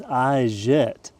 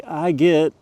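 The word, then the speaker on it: i-get: Robot from Vesa Motorsport in San Diego calls this Iette, but I've heard everyone else say I get. And I'm in the US, so that's what we're going to say, how it's spelled.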